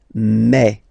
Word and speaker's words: me: Okay, so for the phonetical or pronunciation aspect of it, then remember that this es here combined will give you the sound eh. Okay, so you'll pronounce it like me.